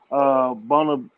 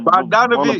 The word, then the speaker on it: Bogdanovich: Bonanovich, say it, Marley. I know you know how to say the Where you motherfucker at? name. Hold on. What you looking at? Atlanta, Atlanta. Oh, Bogdanovich.